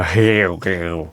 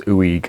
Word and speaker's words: Huyghe: it i always go hell girl but it's ooey it's a french name and they're they're quite